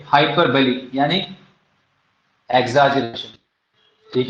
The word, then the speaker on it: hyperbole: हाइपर बली। बली लिखा जाएगा बोल, BOLE, लेकिन पढ़ा क्या जाएगा? हाइपर बली।